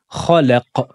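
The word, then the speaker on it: خلق: Khalaq. Khalaq. Attention à ne pas dire khalaq, mais c'est khalaq.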